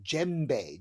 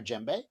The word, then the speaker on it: djembe: or a j but it actually starts with the letter d but we don't really pronounce the d the d is kind of silent so we call it jembe gem gembe gembe so